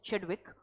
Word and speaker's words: Chadwick: Okay, James चेडविक, आई एम so sorry, I mispronounced his name. It's Chadwick, and he was a student of Rutherford, and Rutherford was a student of J.J.